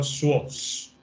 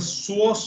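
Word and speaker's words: psoas: of the p p remains silent in the pronunciation of the source okay the what should be pronounced as shush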